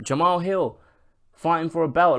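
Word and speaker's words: Jamahal Hill: feel less important like John Mahal Hill I said his name wrong again Jamal Hill fighting for a belt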